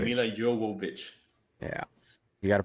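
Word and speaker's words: Milla Jovovich: Mila Jovovich. That's her name. Mila Jovovich. Yeah. You got to pronounce it right.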